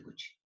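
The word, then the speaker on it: Cauchy: la n es de coche escribe caucci así como lo suponiendo aquí se pronuncia coche pero eso me dijeron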